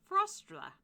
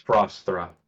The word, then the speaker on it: Frosthra: Frostra. Wait. Frosthra. It's Frosthra. Whatever, thank you. I can't pronounce it properly, so thank you.